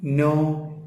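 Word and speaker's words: know: English അറിയാം ഐ നോ നോ എന്ന് പറയുമ്പോൾ കെ എൻ ഓ ഡബ്ല്യു ആണ് കേട്ടോ ആ കെ വായിക്കാൻ പാടില്ല ഡബ്ലിയു അവിടെ ഉച്ചാരണം ഇല്ല എൻ ഓ മാത്രമേ ഉച്ചാരണം ഉള്ളൂ ഐ നോ ഇംഗ്ലീഷ് എനിക്ക്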